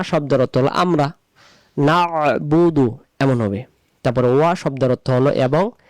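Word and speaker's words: إِيَّاكَ نَعْبُدُ: তারপরে ইয়াকা, ইয়াকা, ইয়াকা, এখানে ইয়াকা নাবুদু ওয়া ইয়াকা নাস্তাইন অনেকে আমরা উচ্চারণ করে ফেলি।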